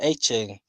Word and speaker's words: Etienne: Um, I'm gonna say Travis Etienne.